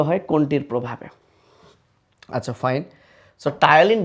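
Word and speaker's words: ptyalin: টায়ালিন বানানটা তোমরা একটু খেয়াল করো। টায়ালিন বানানটা কিন্তু পি দিয়ে শুরু। পি টি ওয়াই এল আই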